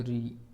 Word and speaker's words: ऋ: इनका उच्चारण री इस प्रकार र हलंत होता है और र इसके बाद में प्लस ई इस प्रकार ये बनता है।